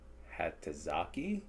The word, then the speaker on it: Hatozaki: Hatozaki? Teriyaki. It rhymes.